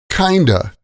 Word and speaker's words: kind of: We usually say kind of like kinda.